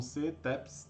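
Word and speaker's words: CEETEPS: Então, Centro Estadual de Educação Tecnológica Paula Souza, conhecido como CETEPS, tá?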